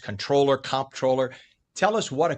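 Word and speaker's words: comptroller: they've heard it pronounced controller, comproller. Tell us what a controller does. And it's all about the bucks, right? That's absolutely right. and it is comproller with a P.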